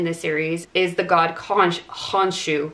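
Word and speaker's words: Khonshu: the god conch honshu which i'm not sure is the correct pronunciation of his name in ancient egyptian i think it's more likely to be kansu but there's several different ways that you could say it he is often depicted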